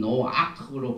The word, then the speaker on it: Noach: 그래서 우리가 이제 이 노아크라는 이 단어를 볼 적에 왜 히브리어에서는 노아크로 발음하고 우리는 노아라고 하는지 왜냐하면 이 노아크란 말이 히브리어로 레스트입니다.